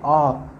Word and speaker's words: awe: Next question है कि ये है AWE, AWE इसको उच्चारण करते हैं अ, ठीक है, AWE इसका उच्चारण करते हैं अ, ठीक है।